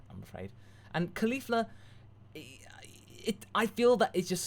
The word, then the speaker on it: Caulifla: Masako, do you know how to pronounce Caulifla? Here's a hint. Cauliflower. Caulifla.